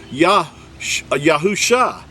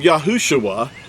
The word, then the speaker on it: Yahusha: he changed his name he didn't change it to shua he changed it to yahusha all he did was add the letter of the creator's name the first letter of the creator's name the letter yad and then husha became yahusha do you see that yahusha he didn't become yahushua there was no uh uh ui added in this text here you can verify this